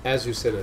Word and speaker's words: Azucena: Azucena, that's how you say it.